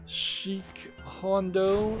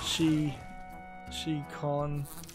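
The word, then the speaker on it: Shikhondo: Sheik Hondo Soul Eater, that's spelled S-H-I-K-H-O-N-D-O. She Con though. I assume KHON is probably one syllable.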